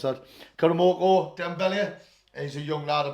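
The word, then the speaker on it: Karamoko Dembélé: they are, is, how the hell do you pronounce that? Karamoko Dembele.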